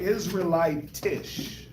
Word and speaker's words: Israelitish: Israelite Israelitish.